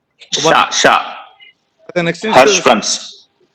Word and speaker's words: Hirschsprung's: The pronunciation of Hirschsprung is sha with a soft sha. Hirschsprung. Okay, Okay, sir. that is how it should be presented. SCH is pronounced as sha. Sha. Yes, sir. Hirschsprung's. Okay, Hirschsprung's disease. That is how it should be pronounced. Not Hirschsprung's. Not sa. Sha.